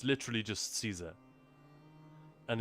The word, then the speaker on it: Caesar: It's literally just Caesar. And in Latin obviously it's c a e not c ea but yeah in Latin it would have been pronounced kaiser kyum for instance has